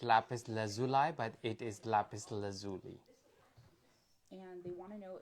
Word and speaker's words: lapis lazuli: people call it Lapis Lazuli, but it is Lapis Lazuli.